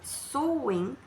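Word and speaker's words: Samhain: comemoração era uma festa chamada suim que é a forma certa de de pronunciar suim e essa festa né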